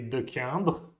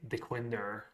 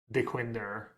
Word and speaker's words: Dequindre: One is this, which in French you would say Dequindre, and in American they say Dequinder. Dequindre, Dequinder.